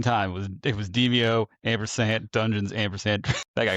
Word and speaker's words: Demeo: But yeah, no, it's it's just supposed to be pronounced deio dungeons and dragons.